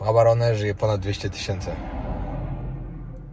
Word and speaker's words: Gaborone: Gaborone, a tak naprawdę czyta się Gaborone. Nie wiem dlaczego, ale tak się czyta.